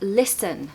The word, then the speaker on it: listen: quiet vowel if you take the word listen for example we've got the stress on the first syllable Lis okay so lists in because the second part of the word is not stressed it's quieter so that's the part of the word that contains the schwa sound so listen listen and